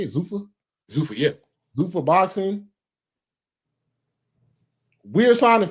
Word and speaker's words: Zuffa: Zuffa, yeah.